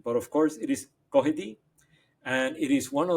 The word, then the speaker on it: Cuddihy: I used to pronounce it Kuhidi, but of course it is Kohi.